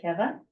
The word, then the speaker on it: Keve: You would pronounce it Keve as an English speaker, but my husband is Hungarian, so you pronounce it Keve.